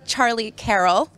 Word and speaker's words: Charlie Carrel: coverage of ept malta i am here with charlie carroll did i say it right yeah okay good